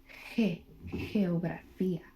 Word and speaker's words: geografía: But I want to show you one instance where G would not be pronounced G, right? I'm going to show you a word. It is geografía. It's behind an E, so it will be pronounced geografía.